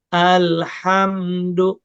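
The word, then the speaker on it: الحمد: Jangan sampai mantul, betul-betul dimatikan. Alhamdu. Jadi enggak alhamdu.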